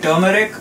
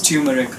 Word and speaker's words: turmeric: mean where I'm from we call it turmeric here I've heard people pronounce I get mostly as tumeric shops in New York